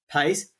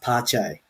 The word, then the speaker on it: Pace: It was at about this time that many realised that Pace, I think it's actually pronounced Pache, because he's Brazilian.